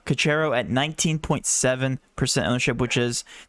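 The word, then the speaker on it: Caceres: How do you pronounce his last name? Cacero. Cacero at 19.7% ownership, which is nearly half.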